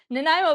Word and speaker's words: Nanaimo: Nanaimo bars for one of our wonderful, wonderful community members.